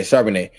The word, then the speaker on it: Charbonnet: I pronounced his name wrong, but yeah, Charbonnet.